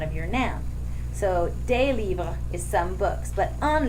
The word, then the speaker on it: livres: We add an S in the writing, but it doesn't get pronounced.